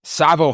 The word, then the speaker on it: Tsavo: Local jam band Savo Highway, that's spelled T-S-A-V-O, has their album release party for their new album Circles.